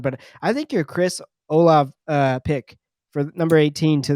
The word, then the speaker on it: Olave: But I think your Chris Olave pick for number 18 to the Saints, I